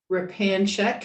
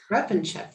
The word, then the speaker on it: Repanshek: And it's my privilege to introduce Repanshek, who is the publisher of National Parks. I didn't pronounce Repanchek. Repanchek, thank you.